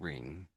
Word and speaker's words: ring: over here so passing so it ends this s i ing which is what we're doing singing king and ring okay so do you